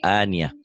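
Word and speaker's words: آنية: Aniatin dibacanya jadi ania. Tak marbutohnya jadi ha ya. Aniatin ania. Ya, baca.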